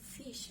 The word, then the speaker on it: phish: to click a link or download an attachment fish is pronounced just like it's spelled which is to